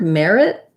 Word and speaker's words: merit: merit merit and so in the word merit i would say i wouldn't say the t i would use a stop t merit where i go up to say the t but i don't release it but in meritocracy meritocracy